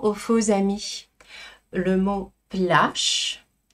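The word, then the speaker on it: пляж: Et là attention aux faux amis le mot plâche se dit en russe avec un che final. Le jeu français n'est jamais prononcé. On le garde certes à l'écrit mais on le prononce pas. Plâche plâche.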